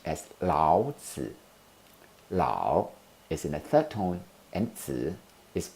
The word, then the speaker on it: Lao: the name of the author louder louder is pronounced as loud Lao is in acetone and is also in a